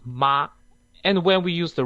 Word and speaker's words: 妈: So when we use the smooth tone, it's pronounced as ma, and when we use the rising tone, it's pronounced as ma.